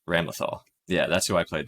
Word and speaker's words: Ramlethal: Bam Lethal, like Bam Lethal, but I think they pronounce it Bam Lethal something. Bam Lethal Valentine? I'm seeing Ramlethal. Ramlethal? Yes, Ramlethal.